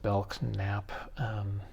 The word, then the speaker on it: Belknap: all these things, but it seems odd to pronounce that K to me. It seems like just Belknap to me, but he had pronounced it Belknap, so I'm going with that.